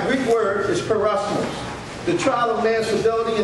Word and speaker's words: peirasmos: All right, the Greek word for temptation is Peirasmos. That's how you pronounce it.